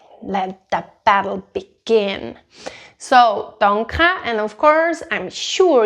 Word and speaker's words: danke: In Swiss German we say danke, danke, but I'm not saying an R here.